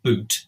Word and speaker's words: Bute: And it looks as though Bute at this time is pronounced Boot, because Bute is a very unpopular figure.